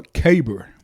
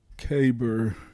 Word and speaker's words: caber: oh yeah yeah i think that's called a caber caber okay k-a-b-e yo let's see you spell it k-y b-e-r yeah i'm gonna look here too i'm gonna look look it's k-a-b-e-r caber caber throw caber toss c-a-b-e-r that's what it